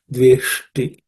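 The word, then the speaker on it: द्वेष्टि: In this ish, you have to understand that it's a cerebral sh, so the tip of the tongue should be pointing upwards. Dveshti. Na ramate, notsahi, no aspirated consonants.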